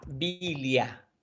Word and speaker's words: vilja: Después, vilja, bilia. Con la J como I. La J se pronuncia como I.